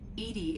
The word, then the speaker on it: EDI: airlock is a jar why are you named Edy Edy is the phonetic pronunciation of e di that is an acronym